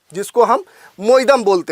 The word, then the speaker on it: Moidam: भी जाना जाता है कुछ लोग इसका जो उच्चारण है वह मोइड म के नाम से भी करते हैं अगर इसकी संरचना की